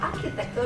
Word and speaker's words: architecture: penjelasannya penjelasannya gini teman-teman Jadi huruf C hak yang ada di kata arsitektur dalam bahasa Indonesia atau akhir tekstur dalam bahasa Inggris itu dibacanya ke bukan kalau itu seperti coklat tapi kalau itu dibacanya seperti